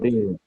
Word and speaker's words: build: Let's see how we Build. pronounce it. Build. Build. Don't pronounce the U. We say build.